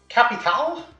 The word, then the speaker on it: Kapital: Kapital, as I believe it's pronounced, for map 2 of the Scientist.